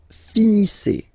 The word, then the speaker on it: finissez: Vous finissez. Vous finissez. Okay, EZ at the end gives you the sound E.